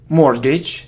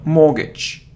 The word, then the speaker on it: mortgage: So mortgage, it isn't mortgage, so, or mortgage, mortgage, mortgage, it's a long sound, mortgage, mortgage, mortgage, mortgage.